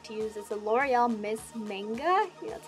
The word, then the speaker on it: Miss Manga: And the second one that I like to use is the L'Oreal Miss Manga, that's how you say it.